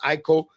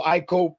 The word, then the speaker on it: AIK: We went to watch Zakuana um it's actually pronounced Iiko. So Aiko um in their Stockholm derby against Jardens.